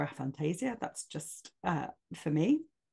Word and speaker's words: aphantasia: you know about it so a Fantasia or a Fantasia depending on how you say it I prefer a Fantasia that's just uh for